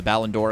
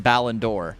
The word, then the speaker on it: Ballon d'Or: They are in the process of losing Rodri, who won the Ballon d'Or a couple years ago, as basically like the best player on the planet.